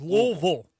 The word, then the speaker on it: Louisville: Don't call him Louisville. Now it's L V. Two syllables. Louisville, right?